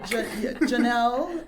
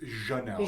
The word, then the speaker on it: Jhanelle: Because apparently, according to her mom, it's Jhanelle. Jhanelle. Oh. And not Jhanelle, but Ja. It's a Ja sound.